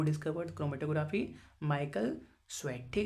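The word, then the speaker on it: Tswett: व discovered chromatography Michael स्वेट ठीक है यहां पे टी साइलेंट पढ़ा जाता है स्वेट ऐसे पढ़ा जाता है द बेसिस पार्ट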